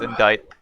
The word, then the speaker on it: indict: murder of one karita I'm pretty sure it's pronounced indite right it was Miss Andrews